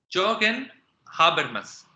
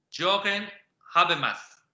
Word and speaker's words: Jürgen Habermas: Es Jürgen Habermas. Más o menos así se pronuncia, para que tengan una idea.